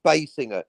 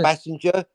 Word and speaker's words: Basinger: she said look i'm it's me it's my name it's basinger it's not messenger basinger or bad singer you know what she